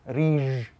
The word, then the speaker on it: riž: So they would say riž with a ž instead of with a sh.